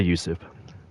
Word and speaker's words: Yusuf: How do you pronounce that? Yusuf, just say Yusuf.